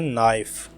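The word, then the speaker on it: knife: चाकू को इंग्लिश में कहते हैं नाइफ। नाइफ, इसमें के साइलेंट होता है।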